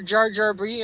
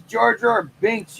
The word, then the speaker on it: Jar Jar Binks: got it's beautiful are you gonna put your jar jar B in there jar jar B I keep saying